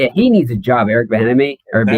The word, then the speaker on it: Bieniemy: Hines Well, Eric Ward, Bilemany. How do you say Eric Bilemany? he needs a job. Eric Bieniemy or That's Bieniemy.